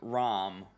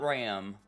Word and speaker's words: Ram: looking for re-zero moments to where they say rom not ram rom but like it's so like nobody says